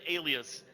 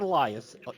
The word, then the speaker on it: Alias: would move away alias is very much me and i'm glad you said alias not only i'm not elias thank you thank you